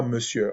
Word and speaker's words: monsieur: Monsieur, on se prononce E, R ne se fait pas entendre. Ça veut dire on dit pas monsieur, on dit monsieur.